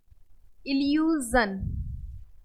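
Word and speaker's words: illusion: बट अगर SION से पहले कोई भी वॉवेल दिया हो इसके पहले, तो इसको जन, जन, जन नहीं है ये, जा बोलेंगे, जन। एग्जाम्पल से समझते हैं। इल्यूजन, okay, इन्वेजन, विजन, confusion.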